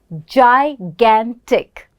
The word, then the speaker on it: gigantic: me gigantic now here even though it's G we're not saying G right we we're pronouncing it as a j gigantic so when you use